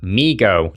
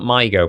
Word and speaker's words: mi-go: Number four, meego. Check the pronunciation by the way. It's definitely meego and not mygo, but I did think it was mygo at first.